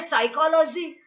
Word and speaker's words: psychology: शब्द है साइकोलॉजी और हम लिखते हैं PSYCHOLOGY।